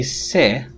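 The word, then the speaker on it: sais: phonemic in some languages for example in french if you say se the regular spelling would be this which means i know but if you say sing it is spelled as this and it means healthy se you see the vowel is not nasalized but saying is nasalized then the meaning of the word changes it means that in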